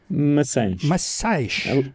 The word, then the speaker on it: Maçães: bruto welcome uh brutal how do you say your last name is machias right massage a little softer a little softer much okay excellent uh bruno